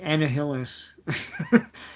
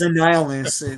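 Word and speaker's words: Annihilus: what's being said yeah when I was six I was like anah Hillis yes it's annihilist oh okay and no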